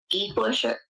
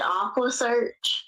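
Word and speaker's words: EquuSearch: And then he was like, after that, it was like, I'm so tired of, he mispronounced Equisearch, and he said Aquasearch.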